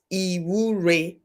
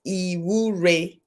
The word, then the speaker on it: Iwure: Number 18, it starts with an I, but the I is pronounced Iwure, because I is usually pronounced as E. So it's Iwure. Iwure.